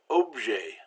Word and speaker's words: objet: So we have words like héros and furieux and objet. We've got two silent letters there. So the final consonants are usually silent if the word ends in a consonant.